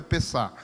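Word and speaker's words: פסח: Pessach, a gente lê assim, mas a pronúncia do hebraico é Pessah.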